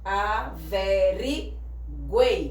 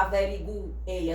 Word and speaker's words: averiguei: Averiguei. A gente não fala averiguei, a gente diz averiguei.